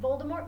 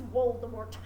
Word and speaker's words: Voldemort: you figure out that all V's are pronounced as W so his name isn't Voldemort it's Voldemort anyway s but anyway